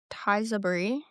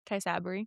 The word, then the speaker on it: Tysabri: She said Ocrevus, Kesimpta, Tizabri. Tysabri.